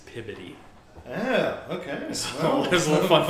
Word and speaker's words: Peabody: Like instead of Peabody, it's Pibody.